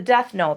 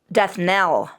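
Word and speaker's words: death knell: And we have I mean falling is the deathn people. Falling is the deathn. So is that right? I'm going to look that up real quick. Um death nail. Ah I knew I wasn't saying it right.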